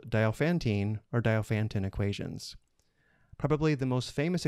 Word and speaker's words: Diophantine: Welcome to a lesson on solving linear Diophantine equations. I've also heard this pronounced Diophantine equations.